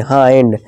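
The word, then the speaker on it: hind: इस तरह हाइंड। हिंड नहीं हाइंड। बाइंड यानी बांधना।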